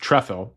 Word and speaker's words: Trefil: On March 14th, Galina writes again, "People have been asking about the diary collection of John Tffle, pronounced Trefle."